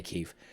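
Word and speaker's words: Kyiv: kiev um i know the europeans and american state is kiev but the the the ukrainians in kiev pronounced it kiev that's why i say keef i've been to that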